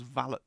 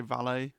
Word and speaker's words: valet: You'll know that Jeeves was Bertie Wooster's valet, right? And if you in the 20s, if you pronounced that valet, people would have thought you were putting on